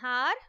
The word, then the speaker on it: hour: The next sentence is, we waited for an hour for a school bus. In this sentence, the word hour starts with the consonant letter H, but H is silent.